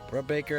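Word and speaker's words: Brubaker: hitter with jt uh brubacher bro baker is how you pronounce it but he's garbage against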